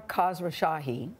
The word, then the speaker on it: Khosrowshahi: Dara Khosrowshahi, did I say it right?